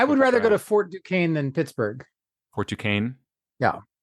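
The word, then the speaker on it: Duquesne: Fort Dukane or Fort Dquznney as uh those who wouldn't don't know how it's pronounced might say it because that's how it's spelled.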